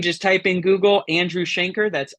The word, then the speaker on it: Shainker: type in Google Andrew Shanker that's s h a i n k r uh kind of rhymes with the word Banker um Andrew Shanker and uh you can